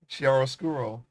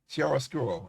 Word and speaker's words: chiaroscuro: Chiaroscuro. Yeah. Chiaroscuro. Okay, that's how you pronounce it.